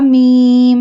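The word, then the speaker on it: ميم: Ba, ha, mim. Ha pronounced from the bottom part of the throat. Mim. Mim pronounced from the dry part of both lips.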